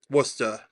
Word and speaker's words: Worcester: Worcester, that's how you pronounce it.